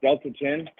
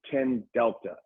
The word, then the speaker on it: 10-Delta: post on X about Delta-10 Yeah. the name wrong. I tried to send it to you, but if you got a second, it's actually 10-Delta.